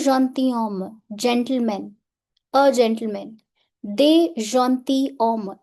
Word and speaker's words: gentilhomme: gentleman a gentleman they gentilhomme s here is silent they gentilhomme means some